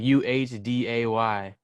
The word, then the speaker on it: Adé: So, my name is pronounced Adé, and everyone would call me Adé. Yeah. Like UHDAY, Adé, when it's ADE with the accent, like Adé.